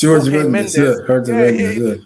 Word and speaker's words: Jorge Mendes: Jorge Mendes. It's pronounced Jorge Mendes as well.